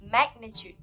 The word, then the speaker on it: magnitude: And the correct pronunciation for this word is magnitude. This word has 3 syllables and the third vowels must be stressed on, which is tude.